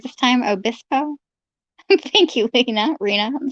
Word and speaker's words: Obispo: said that i say it right this time obispo thank you lina rina i'm so sorry that is pronunciation games are fun like rina remember um